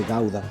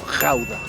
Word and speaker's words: Gouda: El queso Edam, que es así se pronuncia en holandés, y el queso Gouda. Según esa es mi pronunciación holandesa, ¿no?